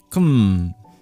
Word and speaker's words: KM: I think I developed my own way of speaking, dear Kim, or KM. Kum. That's how you pronounce that.